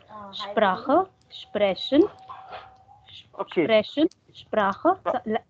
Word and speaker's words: Sprechen: Almost 30% correct, and the pronunciation is still wrong, Saurabh. So, to speak, das ist Sprechen, and then language, das ist Sprache. You are still saying Sprechen und Sprache. So, Sprechen. Okay? Sprechen.